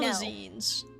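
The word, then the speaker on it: Melusine: Melazines. That's how you pronounce it.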